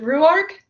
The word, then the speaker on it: Ruark: Is it Ruark? It is, correct. Yeah, that's it.